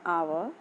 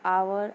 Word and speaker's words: hour: As you can see the word hour and honest, H is silent and it starts with a consonant letter but produces the sound of a vowel O.